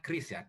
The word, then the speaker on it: QRIS: yang dilihat di video jadi krisis ini bacanya chrisya Keris bisa Krisna banyak